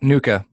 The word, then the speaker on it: NUCCA: a technique known as and you see CA Nuka is that how you say it yep Nuka there you go I'm